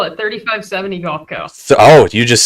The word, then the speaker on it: 35x70: We call it 3570 Golf Co. So, you just skipped the X in the middle there. The X is for fun. The X is silent. It's a silent X.